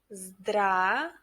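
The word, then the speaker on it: здравствуйте: it sounds like this zdra pay attention that we don't pronounce one letter here we don't pronounce letter v the first letter v let's try one more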